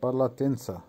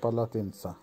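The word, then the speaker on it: полотенце: পালাতেন্সা, পালাতেন্সার বাংলা হবে তোয়ালে, উচ্চারণ হবে পালাতেন্সা। আবারও বলছি পালাতেন্সা।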